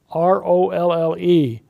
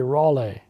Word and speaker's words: Rolle: His name was Richard, R-O-L-L-E. I have always pronounced that Roll, but it could be Raleigh.